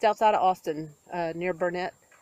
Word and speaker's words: Burnet: It's outside of Austin, near Burnett, or Burnett, that's how you say it.